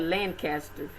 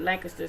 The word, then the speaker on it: Lancaster: It's spelled Lancaster, but they call it Lancaster, South Carolina.